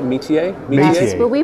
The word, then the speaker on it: Métier: And Doug Clark, both of you with Métier. Did I pronounce that right? Métier? Yes, but we pronounce it Métier. Métier. Because that's the American pronunciation of the French word, which is métier.